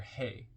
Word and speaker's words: Heh: ice to see comment on hey hey h pronounced as hey transcribed as H the number five meaning window